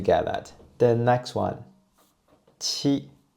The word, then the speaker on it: qi: Qi. Qi is an aspirated consonant, and you can use the same minor G to pronounce this one. But the puff of fire will be much stronger, and this is the aspirative version.